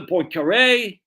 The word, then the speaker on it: Poincaré: None to Poincaré. That's why I heard that's how you pronounce the name, Poincaré.